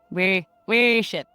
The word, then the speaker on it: worship: So, by the way, I apparently say worship wrong. I say worship, and I've been told, no, that's like a warship, like a toot, like, Apparently it's pronounced worship. Worship. Oh, I just say worship. Worship. I worship. It sounds so weird.